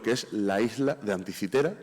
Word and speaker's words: Anticitera: Aquí les pongo una pequeña foto de lo que es la isla de Anticitera. Yo voy a usar la pronunciación castellana.